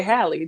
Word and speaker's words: Halle: Because Haley Bailey sounds good together. Like her name is Haley It Bailey. Like, rhymes. you know, it does. That's why we want to say it like I that. But always we want to say Halle, just like Halle Berry.